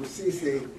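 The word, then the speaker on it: Ceesay: I would like to also introduce, first of all, Imam.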